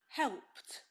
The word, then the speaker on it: helped: one what's this word helped helped well helped so she's saying helped with a t right so which ones